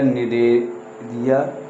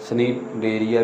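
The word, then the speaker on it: Cnidaria: अब बात करें हम कोलेंड्राटा या निरेिया। यह कई बार यह इसका यह साइलेंट रहता है। देखिए इंग्लिश में इस तरह से लिखा जाएगा। स्नेरिया भी बोल सकते हैं।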